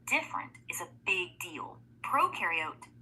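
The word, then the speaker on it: prokaryote: Proariote the pro rhymes with no.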